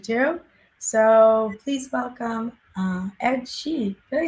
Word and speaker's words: Shee: So please welcome Ed Shee.